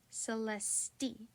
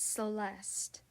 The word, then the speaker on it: Celeste: was he rushing me he pronounced my name wrong too he would always say it like Celeste until I worked up the nerve to correct him it's Celeste I finally told him staring at my